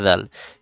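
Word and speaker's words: د: জিহবার আগা সামনের উপরে দুই দাতের আগার সাথে লাগিয়ে উচ্চারণ করতে হয় দাল। এই ফা দাল।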